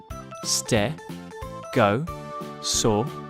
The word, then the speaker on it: stegosaurus: about stegosaurus how do you say that again stare go saw russ can you say it with me stare go saw so what do we know about stegosaurus it